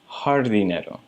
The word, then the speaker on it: jardinero: Anytime you see the letter J in Spanish, you're going to pronounce it like an H. So that's why it's pronounced paisajero and jardinero.